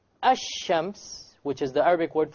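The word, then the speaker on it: الشمس: Okay, there's nothing to do with the sun and moon, but it's just that the Arabic word for ash-shams, the lam is silent, and the Arabic word for al-qamar, the lam is not silent.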